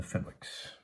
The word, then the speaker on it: Fenwick: Maxwell's, the Kerrs, the Humes, the Greys, and the Fenwicks. Actually, not Fenwicks, according to the pronunciation key. It is, in fact, Fenwick.